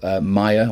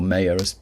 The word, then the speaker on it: Maya: And then there was also Maya, or Maya, depending on how you say it.